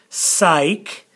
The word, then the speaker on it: psych: voke then we've got psych the P is silent psych then we got mem